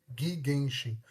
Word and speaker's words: Gigenshin: It's Gigenshin, not Gui. Oh, Gooey Genshin, my boy. Gi, not Gui.